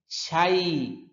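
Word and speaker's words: شيء: অনেকে শাই এটা উচ্চারণ করতে গেলে অনেক সময় হামজার উচ্চারণ এসে পড়ে, হ্যাঁ, এটা খেয়াল রাখতে হবে। শাই, যেহেতু এখানে ইয়া আছে, ইয়ার মতো করে উচ্চারণ করতে হবে, শাই।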